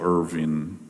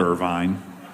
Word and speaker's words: Irvin: witnessed something that Michael Irving I can't say his name is Irvin Irvin not Irvine not Irvine and not Irving Irvin okay yeah what first